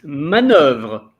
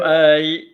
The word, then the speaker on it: manœuvre: It's manoeuvre. Manoeuvre, right? Voilà, with the re, manoeuvre. Manoeuvre. Ouais, and after the V, you pronounce the R of vre. Vert, like that.